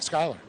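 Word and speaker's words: Schuyler: I was going to say that's one of those you got to phonetically spell out. Yeah. Like Skyler. Not Schuler.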